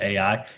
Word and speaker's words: Ai: to a town called Ai. And You people know, pronounce it AI.